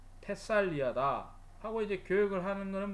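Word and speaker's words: Thessalia: 영어에서는 테살리라고 그러고 오리지널 발음은 테살리아다 하고, 이제 교역을 하는 거는 뭐냐면 현실에 맞춰서 먹고 살아야 되니까 무역을 해야 된다.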